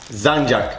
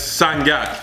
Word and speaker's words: sangak: Sanjak. Oh, pretty close. Sanjak. It's sangak. Sangak.